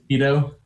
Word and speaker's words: Petho: So yes, I'm Petho or Petho, whichever is easier to pronounce. Sorry. How do you pronounce it? Petho. Petho, okay, very good. That's how we'll pronounce it.